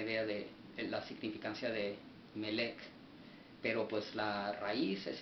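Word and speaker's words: מלך: el H4428, el cual se traduce o se pronuncia Melech, el cual significa un rey, dice, de gente,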